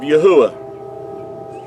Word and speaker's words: Yahuah: in ancient hebrew and if you remove the d out of yehuda you have the pronunciation of yahuwah so another word that